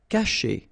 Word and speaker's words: cacher: Cacher. Okay, so remember, when you combine this C and A, you get the sound K, okay?